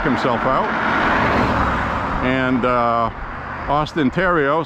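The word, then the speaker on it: Theriault: spelled like theal in English but it's a Tero a Tero that's how it's pronounced but um he had Mike sobleski run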